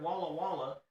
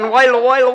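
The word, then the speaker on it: Walla Walla: After having his own Bigfoot encounter, Walaw Wala, Washington, in 1982, he became Why'd you jump? Cuz you pronounced it right. I pronounced it correctly. I was proud of you. I was expecting whala Washington.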